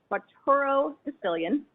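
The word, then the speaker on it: quattuordecillion: and those typing results were at least 500 facturo sicilian that is spelled q u a t t u o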